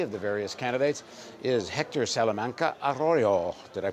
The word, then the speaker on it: Hector Salamanca Arroyo: immigration immigration policy of the various candidates is Hector salaman aroo did I pronounce it right you did so Hector is